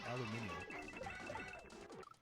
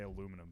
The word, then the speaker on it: aluminium: Technically, it should be pronounced aluminium. I kind of like it better too. It's Just just in a weird way. Actually, I heard a British person say aluminum today instead of aluminium.